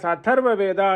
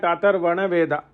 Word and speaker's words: Atharva Veda: region, are very particular that we call Atharva Veda as Atharva Veda and not Atharvana Veda.